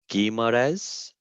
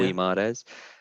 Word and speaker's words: Guimarães: It's I'm not sure how you pronounce it. Guimarães. Yeah. Guimarães.